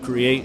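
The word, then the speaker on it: Kreate: owner of owner of create is spelled kc-r-e-a-t the K is silent um I started it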